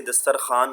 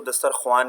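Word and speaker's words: دسترخوان: से घड़ा रोटी से दस्तरखान लड़ता है बेटा यह याद रखिए हमेशा इसको दस्तरख्वान नहीं पढ़ना युवाओं साइलेंट होता है लिखने में आता है पढ़ने में नहीं आता इसको अपने पढ़ना दस्तरखान ठीक है दोबारा शेयर मिश्रा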